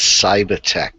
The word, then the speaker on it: Cibatech: He now works for a company called Cibatech. How are you, sir? Hello, Tim, and actually it's Cibatech. Cibatech. Cibatech. Yes, Cibatech. We're mispronouncing the company 10 seconds into the show.